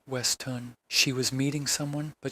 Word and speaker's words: Weston: Beatrice checked into the grandiose last night under an alias, Clara Weston, pronounced Westun.